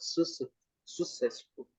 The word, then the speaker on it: successful: Double C in English. What do you need to do? Pronounce both. Successful. Successful. Successful. Tem os dois Cs. Successful. Success- Um com som de K, outro com som de S.